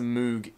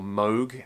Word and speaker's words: Moog: budget uh I think it's a moo ep3 or Moog as it should be pronounced uh ep3 or ep30